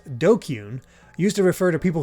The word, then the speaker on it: DQN: the hell's a dqn Japanese netslaying pronounced dokyun used to refer to